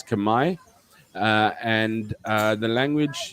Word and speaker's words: Khmer: kumai is the language it's spelled k-h-m-e-r so at first we were talking about khmer all the time khmer kumar kumar um but uh it's kamai uh and uh the